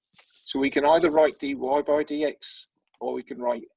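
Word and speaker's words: dy/dx: is written like this: dy over dx, and that's pronounced dy by dx.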